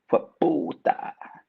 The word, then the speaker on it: hueputa: I like how she says the first part of the word fast, chewing the first two syllables into one. Ihue becomes hue. Then she emphasizes the pu with a popping sound, landing on the ta, elongated the ah, hueputa.